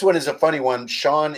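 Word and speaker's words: Ciogn: is a funny one Sean is spelled c-i-o-g-n so it's like this extremely almost like Gaelic kind of name right so you say it out loud it's just like Sean oh yeah I know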